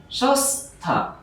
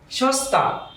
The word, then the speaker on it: সস্তা: তো এখানে লেখা হয়েছে যে দন্ত স এর পর ত, থ, দন্ত ন, র ইত্যাদি থাকলে এই দন্ত স এর উচ্চারণ দন্ত স হবে।